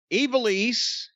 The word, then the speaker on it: Ivelisse: Ivelisse, but it's spelled with an I.